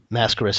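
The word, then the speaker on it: Máscaras: Mascaris is certainly the pronunciation.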